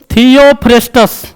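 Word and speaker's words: Theophrastus: होंगे father of बटनी थियो फेस्टस उच्चारण करने में नहीं बनेगा तो इसे बोलेंगे थियो फ्रेस तब दो तीन बार बोलेंगे अलग-अलग आप एक बार में खींच देंगे उसके बाद थियो फेस्टस थियो फेस्टस फादर ऑफ बटनी कौन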